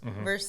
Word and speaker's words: Versailles: Verses. That's like their slogan is is a pronunciation key for a town.